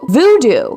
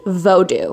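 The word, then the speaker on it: Vodou: about something called hudo voodoo actually pronounced vodu and I believe there is also some other ways that you can pronounce that as well but vodu is actually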